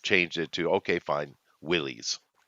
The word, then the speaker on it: Willys: But I'm just saying it's technically pronounced Willis. The man who made it, his name is John Willis. It's just spelt with a Y at the end instead of an IS, YS instead of IS.